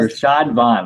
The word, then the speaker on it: Rashad Vaughn: Rashad Vaughn, that's how you pronounce his name.